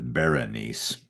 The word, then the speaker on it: Berenice: other ancient writers, but the longer form of her name is Berenice. It just drops a syllable, which is interesting because